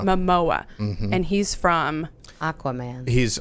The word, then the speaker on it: Momoa: whole discussion got going because tell me the pronunciation of his name again Matt Jason Momoa Momoa and he's from Aquaman he's Aquaman he's from